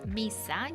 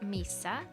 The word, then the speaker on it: Misa: 16th 2016 hi Christine my name is Misa you pronounce it like Misa I am a sassy